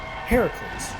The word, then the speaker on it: Heracles: And one of your descendants, you're going to be the grandma to Heracles, which is how it's pronounced in Greek, and then in Roman it's Hercules.